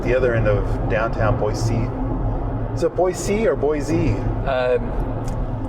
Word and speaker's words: Boise: local to Idaho that it is Boise. And that was like a C as in the letter C? A C as in the ocean, yes. Oh, okay. That by saying it with a Z, a Boise, flags you as someone from California.